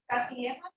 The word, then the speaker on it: Castilla: Melissa Castilla, how do you pronounce that? Castilla.